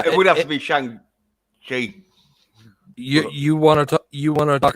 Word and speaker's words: Shang-Chi: about so you actually seen Shang-Chi or however you Yeah, pronounce it? yeah, it is pronounced Shang Chi because Shang-Chi.